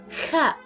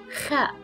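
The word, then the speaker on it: خاء: This is the shape of the letter ha, and pronunciation again is ha. Then we have the letter kha, kha, and we refer to the kha letter as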